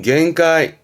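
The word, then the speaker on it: 限界: 발음은 겐가이, 겐가이. 음으로는 겐가입니다. 겐가이.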